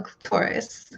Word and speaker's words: clitoris: This organ rhymes with the word the name Dolores and it's called the clitoris clitoris.